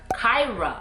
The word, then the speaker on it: Kyra: much almost named her kyra k-y-r-a again to the point two syllables short name matches with